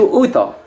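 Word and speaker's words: उठो: Bangunlah dalam bahasa Indianya itu uto. Uto, tulisannya U-O-U-T-H-O. U-T-H-O itu bacanya uto, artinya bangunlah.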